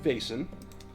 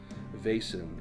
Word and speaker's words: Vaesen: In Vaesen, you have all sustained a trauma.